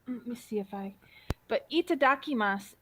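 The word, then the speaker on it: いただきます: see if I but itadakimasu is spelled similar to what it sounds like but basically if you've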